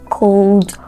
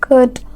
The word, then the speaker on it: could: Yes, so these words are not pronounced cold, would, should. They are correctly pronounced could, would, should.